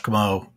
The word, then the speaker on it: Comeau: Comeau. My last name is spelled C-O-M-E-A-U, which I recognize is strange, ends in three vowels and is pronounced like none of them, right? E-A-U and pronounced as O.